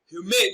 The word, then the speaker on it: humane: Humane is stressed on its second syllable as humane. Mane is pronounced louder and longer.